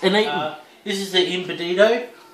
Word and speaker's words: Embutido: Embutido. Empanado. Embutido. Embutido. No worries, that's how you do it, and next you'll see it will be cooked, sliced, and eaten. This is the embutido.